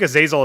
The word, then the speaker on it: Azazel: they don't know what I think a zazel is actually supposed to be pronounced Azazel but I often times I